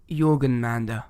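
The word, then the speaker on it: Jörmungandr: Jormungandr.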